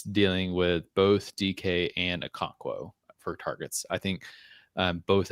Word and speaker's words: Okonkwo: Chiga Conquo. Oh, it's Okonkwo.